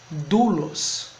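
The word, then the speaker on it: δοῦλος: Então, você tem a formação eidolos, que vai dar a ideia também de continuidade de uma mesma raiz, doulos.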